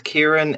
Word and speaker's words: Kieran: My name is Kieran. It's pronounced just how it's spelt.